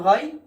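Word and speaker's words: حاء: হা উচ্চারণ হয় এই যে গলা, এটাকে কণ্ঠনালী বলা হয়, এই গলার মাঝখান হইতে উচ্চারণ হয়।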